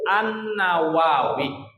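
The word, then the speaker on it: an-Nawawi: tulisannya lafaznya ya yaitu annawawi kalau Syekh Nawawi enggak pakai alif lam langsung Nun saja ya diawali dengan huruf nun dibacanya Nawawi kalau imam nawawi alif lam ya Ada Alif lamnya yaitu annawawi ini namanya kitab alazkar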